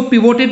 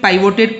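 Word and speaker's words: pivoted: कई लोग इसको पिवोटेड भी प्रोनाउंस कर सकते हैं, बट I will pronounce it पाइवोटेड coil type.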